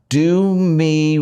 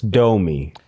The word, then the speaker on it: Domi: It's Domi. It's Domi. See, that's how I pronounce it. Okay, well, you should pronounce it the way you'd like. So, when I moved to downtown Miami, that's where the name is from, DOMI, downtown Miami.